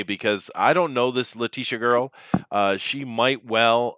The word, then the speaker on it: Letitia: oh no letitia wright latisha no it's pronounced it's pronounced leticia no you have a